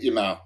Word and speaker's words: Yamal: pronounce it? Yamal.